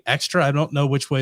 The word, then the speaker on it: XTRA: I keep wanting to say extra. I don't know which way is the right way Extra, to pronounce Brian. it. It's pretty It should be extra?